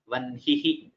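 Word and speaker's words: वह्निः: The exception is only for nakara and makara. Vanhihi, brahma, brahmanaha.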